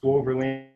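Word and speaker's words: Swoberland: Spelled S-W-O-B as in Victor, E-R-L-A-N-D. Pronounced Soberlin.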